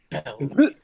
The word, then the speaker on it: Belmere: No, say it right. Belmere. When you add the inflection to it, you get this general vibe of like positivity. Like this is a pretty good place to be.